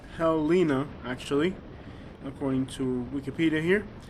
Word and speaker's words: Helena: It's Helena, pronounced Helena actually, according to Wikipedia here.